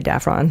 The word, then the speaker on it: Daffron: Her husband is a guy named Thomas Daffron, or Daffron, it's probably Daffron, rhymes with saffron, and he works for a lobbying firm, guys.